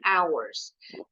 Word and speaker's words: hours: Kita lihat dua kata pertama dulu, 10 and hours. This is pronounced as hours. The H is silent.